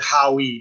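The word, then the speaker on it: Howe: o w e i i pronounce it howie because it's an e i might it might just be how i'm not sure this is uh a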